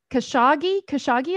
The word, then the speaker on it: Khashoggi: Khashoggi, is that how you pronounce his name?